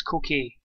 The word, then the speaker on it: Koke: Here's Koke. Or Coke, I think it's Coke he's pronounced, but he's Suarez.